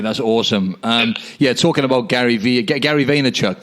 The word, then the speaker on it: Vaynerchuk: Talking about Gary Vaynerchuk, that's how you pronounce his surname, right? Is it Vaynerchuk? Yep.